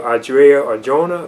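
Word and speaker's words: Adria Arjona: other characters in the film too like uh audrey or jonah then that's how you pronounce her name she plays up martine and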